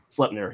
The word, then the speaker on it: Sleipnir: Sleipnir is an 8-legged horse, not a 9-legged horse. So it's I'm less sorry, the horses, the many-legged horses named Sleipnir? Sleipnir.